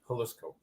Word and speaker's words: Jalisco: I think they pronounce it like the city, Jalisco.